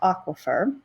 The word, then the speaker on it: aquifer: this next term now this is a term that sometimes students struggle to pronounce right the way that you say it is aquifer an aquifer is not